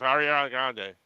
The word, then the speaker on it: Ariana Grande: pronounce her name right, Johnny. It's Ariana Grande.